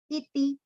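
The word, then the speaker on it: इति: Iti, both have with a short pronunciation.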